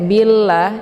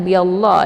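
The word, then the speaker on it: بالله: lafdul jalalah tarqi murakquun jadi cara bacanya lamnya dibaca tipis karena harakat sebelum e lafzu jalalahnya berharakat kisrah yaitu Bi jadi cara baca Billa ya jangan biall ya tapi ditipiskan Billa ya kemudian laanya dibaca panjang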